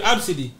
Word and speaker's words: Abcde: Her name is spelled ABCDE.